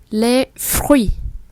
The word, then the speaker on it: fruits: Les fruits, phở, phở. Chúng ta lấy hơi là âm phở, nhưng mà chúng ta đọc thì đẩy cái lưỡi xuống để nó ra âm r.